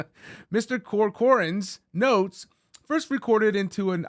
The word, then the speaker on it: Corcoran: Evan that's how you say his name Mr corcoran's notes first recorded into an iPhone and then